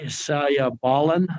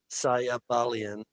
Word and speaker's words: Sayabalian: good now uh sayabalen i don't know if i'm pronouncing that right i'll go ahead and tell me how to pronounce it correctly sayabalian okay mr sally balian